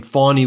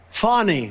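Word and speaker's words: Fani: said the way you should pronounce the name fonny Willis is well I'll just let him say it it's too despicable for me to even say play this clip local cases like funny funny it's spelled Fanny it's spelled Fanny like your ass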